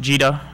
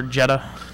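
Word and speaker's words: gEDA: uh and it's pronounced gita or jetta yeah jetta mostly depending on which side of the pond you come from it sounds like right uh british people tend to say jetta uh here it is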